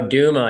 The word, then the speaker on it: Duma: The Tommy, do you pronounce it Dama or Duma? Oh, Duma. Yeah, that was a fun one.